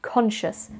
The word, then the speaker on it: conscious: There is a reason why I put the shus on the end, and that's because it is a very popular suffix. You can have conscious, suspicious, and all sorts of other words ending in the word shus, which is spelt C-I-O-U-S.